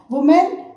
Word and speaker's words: women: वुमेन आपका singular है और हम जो प्लूरल है इसको क्या बोलते हैं? विमेन. क्या बोलेंगे बेटा? विमेन. वुमेन, विमेन, वुमेन, विमेन. Spelling also changes and pronunciation also changes.